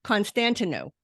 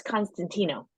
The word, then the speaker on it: Constantinou: pronounce your name right well almost it's Constantino constant no I did not pronounce it right at all uh Constantino which sounds much prettier than what I said so I apologize for